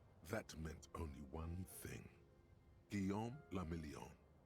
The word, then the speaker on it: Guillaume la Million: For Revachol, your city, that meant only one thing: Guillaume la Million. If it doesn't rhyme, you're not pronouncing it right.